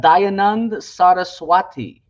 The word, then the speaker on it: Dayanand Saraswati: Prakash, which was written by, and I'm probably pronouncing it wrong, but it's also it was written by Dayanand Saraswati, and he put forward these arguments about Jesus